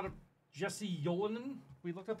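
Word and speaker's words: Ylönen: Jesse Yolinen? We looked up how to pronounce this dude's Jesse name. Jesse Yolinen? Gotten. A little Canadian... How do I pronounce this dude's name? Ulinen.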